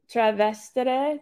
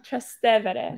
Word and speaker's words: Trastevere: Trevestere, Trastevere. Yes. I always say it wrong. Trastevere.